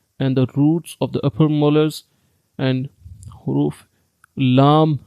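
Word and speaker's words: ل: There are 3 words: Lam, Noon, and Ra. Try to pronounce them and say Lam, Lam, Noon, Noon, Ra, Ra.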